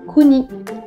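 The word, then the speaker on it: 国: prononce là en l'occurrence celui ci c'est le candy qui se dit kuni c'est le pays donc là il faudra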